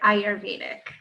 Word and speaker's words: Ayurvedic: yeah it's a well you pronounce the Y so it's I heard Ayurvedic Ayurvedic I never I